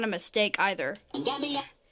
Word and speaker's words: Gambia: And Gambia. The official name of the country is the Gambia. This country requires the Arctic, which is Portugal, to avoid the confusion with Zambia.